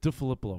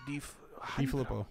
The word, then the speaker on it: DeFilippo: DeFilippo. They're did I just add an extra syllable in there? DeFilippo.